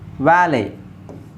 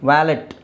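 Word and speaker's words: valet: ಹೇಳಬೇಕು debut debut debut ವ್ಯಾಲೆ ವ್ಯಾಲೆ ವ್ಯಾಲೆಟ್ ಅಲ್ಲ ವ್ಯಾಲೆ ಹಾ ಇದನ್ನ ತುಂಬಾ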